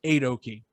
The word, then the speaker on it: Aoki: That was as far as I got with it, with trying to distinguish, but they're pronounced Aoki. So take one of the eights, take Steve Aoki's last name, boom, Team Aoki for now.